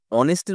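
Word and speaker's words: honest: তার কারণ হচ্ছে দেখো, অনেস্টের উচ্চারণ এইচ এর মতন হচ্ছে না, অনেস্ট ও এর মতন উচ্চারণ হচ্ছে, এই জন্য অ্যান হবে।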